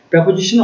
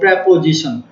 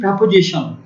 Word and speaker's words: preposition: তখন তাকে আমরা বলবো প্রেপোজিশন। ওকে, তো আমরা চলে আসি। সঠিক উচ্চারণ কিন্তু বলে রাখি প্রেপোজিশন। আপনারা Oxford even Cambridge advance learner dictionary দেখলে দেখবেন যে উচ্চারণ হবে প্রেপোজিশন, নট প্রিপোজিশন, প্রেপোজিশন।